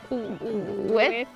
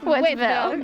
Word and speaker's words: Wytheville: Wytheville? I thought it was Wytheville at first, but we were debating how to pronounce it in the car. Wytheville. Wytheville.